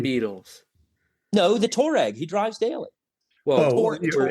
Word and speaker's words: Touareg: did I say it properly? Touareg? Touareg. That's the first time I've said it properly my entire life.